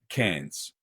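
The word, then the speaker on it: Cairns: spent some time in Karen's or is it Karen's KS how do you pronounce it again can cans cans yeah as in like like as in like a Coke cane cans yeah and it always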